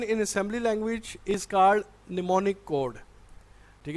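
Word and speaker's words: mnemonic: के सामने जो ML आप एम को साइलेंट रखेंगे हम नहीं पढ़ा जाता है इसको पड़ेगा निमोनिक कोड तो इसमें जो सिंपल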